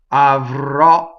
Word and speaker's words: avrò: Avrò. Here we have another accented last syllable with an open O.